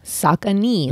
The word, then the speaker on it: Saucony: your on it um the sock and D Saucony that's how you say it Saucony um endorphin speed